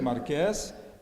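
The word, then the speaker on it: Márquez: Susana Nevarez Marquez, accent on the U, is a writer and poet currently living in southeast Bexar County.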